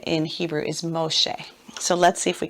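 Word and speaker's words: משה: need to put that close that syllable Moshe all right now they say it quicker than that Moshe so that's so interesting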